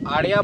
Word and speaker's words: Arya: এরপর কোয়েশ্চেন হচ্ছে আরিয়া ভৌমিক, যতদূর সম্ভব প্রোনাউন্সিয়েশনটা ARYA, তো আরিয়া ভৌমিক 237, যাই হোক।